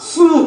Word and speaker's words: SUW: はいはい、SUW って書いてある、これは、はい、スーと読むんですね。